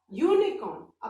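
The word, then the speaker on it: unicorn: अब यूनिकॉर्न, अब आप ध्यान से देखो, स्पेलिंग किससे स्टार्ट हो रही है? यू से स्टार्ट हो रही है, बट जब हम बोल रहे हैं यूनिकॉर्न तो य वाला व्यंजन वाला साउंड आ रहा है ना, कॉन्सोनेंट का साउंड आ रहा है, तो इसके आगे भी हम अ लगाएंगे।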